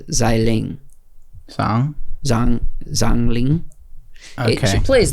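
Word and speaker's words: Xialing: All right, I'm pretty sure that her character's name is, I think you do the X, is actually pronounced as a Z. So I think it's Xiling.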